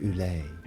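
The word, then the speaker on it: Ulay: go to the UK and to Ireland they spell it oil of Ole u l a y oil of Ule uh-huh when they go into Australia uhhuh they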